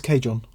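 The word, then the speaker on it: cajón: Yeah, I think the correct pronunciation is cajon. Cajon? Cajon? Cajon. Cajon. It's a Spanish word.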